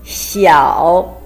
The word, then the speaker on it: 小: Opposite to that is 小. It's a combination of xi and yao with third tone.